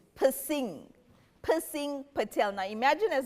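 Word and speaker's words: Piscine: Because if you pronounce his name, it's pissing.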